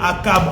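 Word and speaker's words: Achab: Akab, ça s'écrit avec A-C-H-A-B. Est-ce que tu peux écrire Akab en commentaire?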